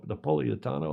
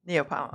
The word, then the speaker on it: Neapolitan: I like Napoleitano. How do you say it? Neapolitan. Neapolitan. Well, we say it in that's anglicized, but I think they have the best pizza.